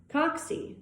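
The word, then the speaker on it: cocci: first category of shape for bacteria is called coxy that's spelled c-o-c-c-i coxy coxy include common pathogens such as streptococcus pyogenics next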